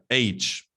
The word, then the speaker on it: H: You need to know the pronunciation of the letters of the English language. Like, for example, some people say itch. Okay, this is not itch, it's H.